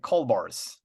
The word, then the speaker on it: Kaulbars: the back but uh gez I wonder where Rick is we'd better call bars see and then see